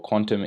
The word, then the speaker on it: Qtum: don't know what uh qtum is kudum is or quantum is pronounced a proof is a